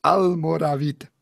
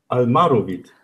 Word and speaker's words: Almoravid: Almoravid, ausgesprochen. Almoravid. Almaravid. Almoravid.